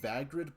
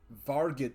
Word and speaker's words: Vargid: Vagrid police. Am I even saying it right? Oh, yeah. Vargid. Oh, Vargrid police, not Vagrid.